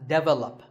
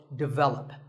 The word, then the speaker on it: develop: This is pronounced wrongly by many learners of English as develop. But the first syllable is actually de, and the stress is on the second syllable, so develop.